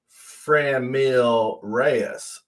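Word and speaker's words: Franmil Reyes: You know, you could also just pronounce his name Framil Reyes. That's also it's another way of pronouncing his name.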